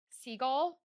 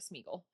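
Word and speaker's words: Sgaeyl: Seagull Zaden's dragon. I learned how to say it today. I have been calling her Smeaggle.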